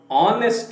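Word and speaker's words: honest: ಅಂತ ಇಲ್ಲಿ ಹೇಳ್ತೇವೆ ನೋಡಿ ಇಲ್ಲಿ ಇದು ಎಚ್ ಓ ಎನ್ ಇ ಎಸ್ ಟಿ ಆದ್ರೂ ಕೂಡ ಇದನ್ನ ಇದನ್ನು ನಾವು ಉಚ್ಚಾರ ಮಾಡುವಾಗ ಈ ಎಚ್ ಅಕ್ಷರವನ್ನು ಬಿಟ್ಟು ಉಚ್ಚಾರ ಮಾಡ್ತೀವಿ ನಾವು ಆನೆಸ್ಟ್ ಅಂತ ಉಚ್ಚಾರ ಮಾಡ್ತೀವಿ ಆಯ್ತಾ ಆನೆಸ್ಟ್ ಅಂತ ಹೇಳಿ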